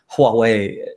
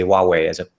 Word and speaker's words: Huawei: word Huawei is spelled Huawei differently as opposed to the way we say Huawei, because it has an H in the beginning, but we pronounce it as if it has a W.